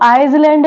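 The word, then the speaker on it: island: देखते हैं है आइलैंड अब इसको आइलैंड नहीं पढ़ा जाएगा क्या पढ़ा जाएगा आइलैंड यहां पर जो एस है एल से जो पहले आ रहा है वो यहां पर साइलेंट लेटर है ओके नेक्स्ट वर्ड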